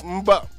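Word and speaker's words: Mboup: I'm not going to mess up this last name, but it's spelled M-B-O-U-P, and that's Mboop. Mboop. We got it close, Mboop.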